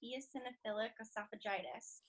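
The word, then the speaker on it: eosinophilic esophagitis: well sure so I have Yomi which is pronounced eosinophils esophagitis and it's a disease of the throat and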